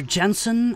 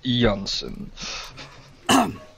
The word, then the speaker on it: Jensen: and he says Dr Jensen I presume it's pronounced yansen yes uh my apologies